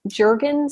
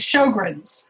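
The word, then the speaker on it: Sjögren: and ra lopus and I always I always um feel like I'm mispronouncing this one but is it called Jurgen syndrome it it's shog is is how you it shog which is another autoimmune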